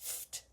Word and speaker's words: FFFTT: Yes, triple F and two T's is pronounced FT.